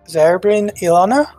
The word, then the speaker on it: Zarin Ilana: right if it helps the pronunciation is Zarin Ilana that's the full name I thought it was